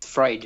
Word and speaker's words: Freud: Oh, how you pronounce? Sorry, guys. You got it. Freudian slip. Yeah, it's Freud.